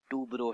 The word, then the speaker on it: Toubro: मैं तो बचपन में इसको टर्बो टर्बो करता था, मगर फिर बाद में पता चला ये टर्बो नहीं टूब्रो है। ये अभी भी शायद पता नहीं मैं सही से प्रोनाउंस कर रहा हूँ कि नहीं, मगर पॉपुलरली